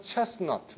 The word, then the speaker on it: chestnut: 근데 T 발음이 죽으면서 chestnut, 뭐죠? 밤이죠, chestnut.